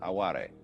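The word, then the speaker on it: 哀れ: aware it's spelled like our word aware only pronounced aware and this like yugen and sabii is difficult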